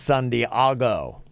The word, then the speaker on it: San Diego: got his email from Allison in San Diego pronounced San Diago you did not know Virginia I don't have